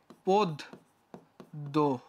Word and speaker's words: পদ্য: আগে ভাঙ্গায় দেখাই তোমাকে পদ্য এর বানানটার উচ্চারণ হচ্ছে এমন যে পদ দ্য পদ্য ঠিক আছে না এই